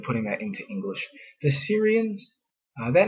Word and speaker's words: Syria: and they're up there in what is now Syria, but it really probably should be pronounced Surya and then Ashurya is Assyria. So it sounds actually a lot different in the in the languages that comes from in English.